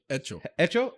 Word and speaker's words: hecho: Echo. Echo? So you don't do the H. H in front is silent in Spanish.